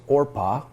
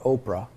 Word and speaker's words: Orpah: The name of the one was Orpah. That's not Oprah.